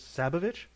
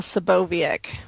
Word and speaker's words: Saboviec: Forgive me if I mispronounce this. Sabovich. I write under a pen name, actually. It is S.L. Saboviec.